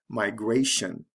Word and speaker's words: migration: So it has to shift to the second syllable when we add the T-I-O-N, migration.